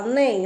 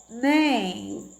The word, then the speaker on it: nem: nariz tampo nós fala nem aí ó nem nem observar tudo né então tem um solzinho nasal né o som que sai pelo nariz tá certo então aqui